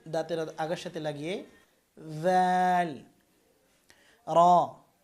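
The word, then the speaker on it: ر: র। র উচ্চারণ করবেন জিহ্বার আগা তারপরে পুরো তালুর সাথে লাগাতে হবে, অর্থাৎ এই যে যে দাঁত, এই দাঁত সংলগ্ন এই তালুর সাথে। র। র একবার কম্পন হবে।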